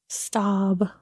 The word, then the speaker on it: Staub: Stab? S-T-A-A-B. Oh. How would you pronounce that? Stab.